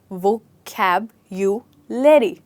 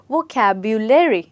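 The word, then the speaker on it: vocabulary: हैं यह है वोकैबुलरी इसमें आप जब बोलेंगे तो आप ऐसे बोलेंगे वोकैब यू लेरी मेरे बाद बोलिए वोकैबुलरी फिर से बोलिए वोकैबुलरी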